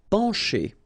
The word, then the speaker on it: pencher: Pencher. Okay, remember, E-N nasal, pen, pencher. Okay, C and H together will produce the sound sh. Pencher. Okay.